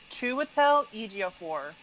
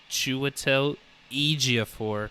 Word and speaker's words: Chiwetel Ejiofor: Oh, Chiwetel Ejiofor. Chiwetel Ejiofor.